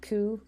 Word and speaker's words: Khoe: my name is ku my nest last name is pronounced ku which I realize is probably unintuitive to everybody except for people who speak Dutch I'm currently serving as